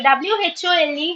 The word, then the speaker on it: whole: So WHOLE has to be pronounced whole. Whole. W is silent.